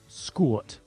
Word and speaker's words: skort: Skort. S-K-O-R-T is how you pronounce it, how you spell that.